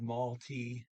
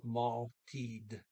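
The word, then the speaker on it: måltid: Um, okay, and I mispronounced maltied. I said malty. I didn't pronounce the D, but it's one time you do pronounce the D in the word time, T-I-D. It is teed, not tea. So meal is maltied.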